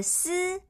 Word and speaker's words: 鷥: 很好哦，这个不卷舌的丝和小老鼠卷舌的诗可是不相同的哦，注